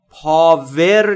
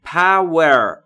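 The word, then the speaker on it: power: یعنی زندگی من دوستان در مورد تلفظ پور دقت بکنید بلیوشو وقتی میخواید تلفظ بکنید لب‌هاتون باید حالت بوسه داشته باشه یا لوله‌ای و هوا خارج میشه و در مورد پاور پاور نیست تلفظش پور پ و یه چیزی بین او و ا میشه پ پ پ پ پور یعنی قدرت توان نیرو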